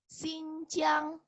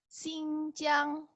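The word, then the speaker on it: 新疆: Dengerin ya cara bacanya. Xizang. Lagi. Xizang. Kemudian nomor 2, nih, Guangxi. Guangxi. Guangxi. Ningxia. Ningxia. Neimenggu. Neimenggu. Xinjiang. Xinjiang.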